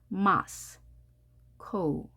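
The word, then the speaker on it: Moscow: 형태로 발음을 합니다 하지만 영어에서는이 소리가 사라졌습니다 우만 발음하면 되겠습니다 단어 연습해 볼까요 마스크 엄마가 둘이 있죠 하나씩 끌어안고 나눠봅니다 마스코 마스코 강세가 앞에 있기 때문에 마스크 이렇게 됩니다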